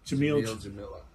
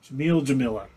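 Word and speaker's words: Jameela: Her first name is the same as her last name, except for there's an A. So Jamila. Jamila.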